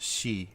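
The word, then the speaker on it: し: have four because the one of the pronunciations for four is she and she is the uh a reading of the kanji for death is she so um they uh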